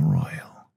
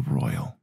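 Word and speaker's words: Roil: is known as the Royal. R-O-I-L, I think that's how you pronounce it. Like boil, just with R.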